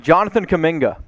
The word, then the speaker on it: Jonathan Kuminga: it rolling here with our next player mitch jonathan kaminga two for two hey hey atta boy mitch